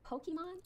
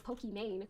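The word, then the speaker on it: Pokimane: guys but I understand in English this just reads as poke man so I'm never mad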